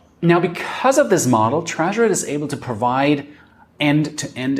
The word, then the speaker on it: Tresor: Well, let me pronounce it the German way because, well, I'm German. It's called Tresor.